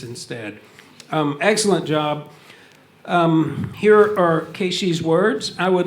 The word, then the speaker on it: Keishii: I say Keishii's name because there's two I's at the end, and so I'm always trying to make sure I pronounce the I so they think I say Keishii. Keishii.